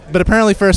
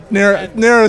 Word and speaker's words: Narris: So apparently Ferris was not interested enough to keep Ray's attention. Okay. Narris, sorry. He told me it rhymes with Ferris, and I'm calling him Ferris. Sorry, Narris.